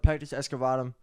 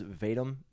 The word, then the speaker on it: pectus excavatum: So my sternum, I have a thing called pectus excavatum. Ludwig pronounces Sounds it like a wrong. Harry Potter spell, bro. It does. Ludwig pronounces it wrong. He says vatum.